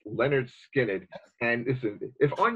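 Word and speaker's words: Lynyrd Skynyrd: those and the first Leonard Skynyrd album pronounced Leonard skin it and this is if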